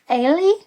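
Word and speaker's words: Eilidh: The youngest sister, I would have said her name was Ay, but from the audio what I heard on the audio book, but it's spelled like E I L I D H, so I guess it's like Irish something.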